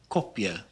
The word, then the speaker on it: kopje: The short O is rounded a bit more than it is in English. We pronounce it as an O sound instead of an A sound, like in the word kopje, kopje.